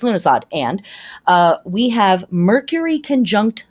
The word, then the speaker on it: Lughnasadh: All right, August 1st, that's Lughnasadh or Lughnasadh or Lammas. It is pronounced a bunch of different ways, also called Loaf Mass and Freyfest or Freyfaxi.